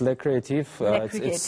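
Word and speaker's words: Les Créatifs: Did I say it right? Yes, it's Les Creatifs.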